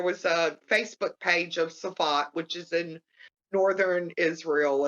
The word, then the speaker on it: Safed: There was a Facebook page of Safat, which is in northern Israel. It's spelled SAFED, TZFAT, whatever.